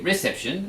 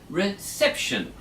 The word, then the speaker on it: reception: so we don't say reception we say reception on the second syllable could you say it's